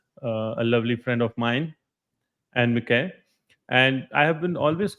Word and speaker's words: Anne-Mieke: My name is Dutch. I was born in the Netherlands, and it's correctly pronounced Anne-Mieke. Anne-Mieke.